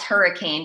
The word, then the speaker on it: Hurricane: I mean, I moved to Charleston, and there was a town named Hurricane, spelled hurricane, but it's pronounced hurricane without the E.